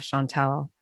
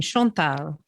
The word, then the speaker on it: Chantelle: the same way because it's a french name and all their bras have chantal is how you're supposed to say it so if i had my brothers i would have everyone say my name shonta but um that sounds